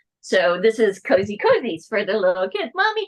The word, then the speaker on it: COZYzzz: We pronounce the ZZZ as Z's. So this is CNTVs for the little kids.